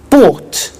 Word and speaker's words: bought: to the pronunciation by bought you notice that o u g HT is pronounced ought by bought come came